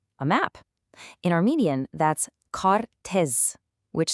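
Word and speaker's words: քարտեզ: In Armenian, that's kartez, which sounds like kartez.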